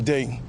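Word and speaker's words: Dei: I said, "In my God day verbium day." Once you spell day in Latin, it's spelled d e i.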